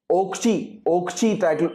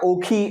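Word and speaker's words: Ockhi: Example के तौर पर एक साइक्लोन आया था ओक्ची साइक्लोन, या ओखी ऐसा करके जो है उसको प्रोनाउंस किया जाता है।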